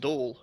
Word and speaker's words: Domhnall: I didn't live with him, but he lived with my friends, and his name was spelt like that. He was actually from, like, the islands of Scotland, and it was just pronounced Dole, right?